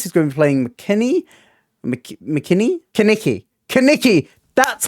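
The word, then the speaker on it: Kenickie: Rizzo, George Michelades, who's going to be playing Kaniki. That's how you pronounce it. It's pronounced Kaniki.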